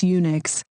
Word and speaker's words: Unix: is it like unix that's unix with a u sound come on you studied